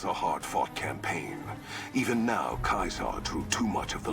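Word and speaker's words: Caesar: east i shall not i mean technically kaiser is how it's pronounced the strength of the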